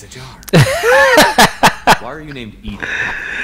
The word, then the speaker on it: EDI: Why are you named Edie? Edie is the airlock is pronunciation ajar.